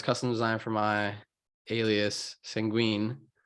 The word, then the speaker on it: Sanguine: Um, but for projects like this, where it's all you have is custom design for my alias Sanguine, right? That's how you say it, correct? It's sanguine. Yeah.